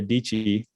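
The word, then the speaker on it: Dietschy: Well, there's one of the YouTubers I follow, Sarah Dici, rhymes with Peachy.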